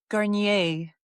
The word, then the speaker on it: Garniez: All right, Rachelle Garniez, is that pronounced properly? Garnier, like the shampoo, but with a Z.